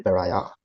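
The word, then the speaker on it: pariah: तो इसकी प्रोनाउंसिएशन पे थोड़ा ध्यान देंगे। इसको बोलते हैं पराया।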